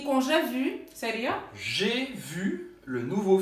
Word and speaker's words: j'ai vu: Porque você vai precisar falar ele para conseguir fazer a pronúncia dessas duas frases. Então, je veux aller voir le film. E com j'ai vu, seria?